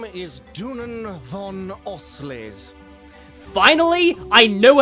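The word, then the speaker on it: Dunan von Auslese: My name is Dunan von Oley. Finally, I know how to pronounce that name.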